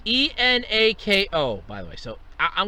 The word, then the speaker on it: Enako: All right, so there's been stories in the past, though, about, I'm going to mispronounce her name. I know I am. Enako? It's Enako, by the way.